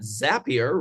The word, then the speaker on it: Zapier: So in just a moment, I'm also excited to introduce you to a leader at Zapier, rhymes with happier, who I'm proud to say is both a partner of Talent Collective and Power2Fly.